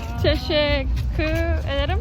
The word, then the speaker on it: Teşekkür ederim: Teşekkür ederim.